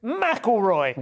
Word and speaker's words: McElroy: Hello, and McElroy. Good evening. I wrote that out properly on the autocue, so with the emphasis on the first half, but I managed to